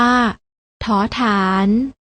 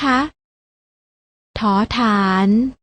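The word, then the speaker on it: ฐ ฐาน: เก่ง มาก เลย ค่ะ พยัญชนะ ตัว แรก อ่าน ออก เสียง ว่า ถ ฐาน พยัญชนะ ตัว ที่ 2 อ่าน ออก เสียง ถ เหมือน กัน อ่าน ว่า ถ ถุง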